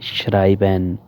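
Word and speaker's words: schreiben: है श्रावन श्रावन लिखना जहां ई और आई इकट्ठा हो जाए वहां ई साइलेंट हो जाता है और आई की आवाज निकलती है श्राइबेन लिखना उसके बाद अब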